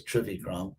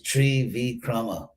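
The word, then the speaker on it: Trivikrama: called tree vikrama which in uh western sanskrit is trivikram but actually it's tree v chroma three great steps that's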